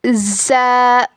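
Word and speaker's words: ز: जा ज़ जा का क्या मकरज है?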